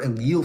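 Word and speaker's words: allele: They're alil frequencies. That's the uh the proper way to say it. The alo frequency changes over time, but this takes p generational time.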